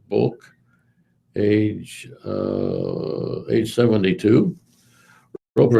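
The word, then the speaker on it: Bouc: Lady of Guadalupe seminary in Denton Nebraska bulk is spelled b-o-u-c Kenneth L book age uh age 72.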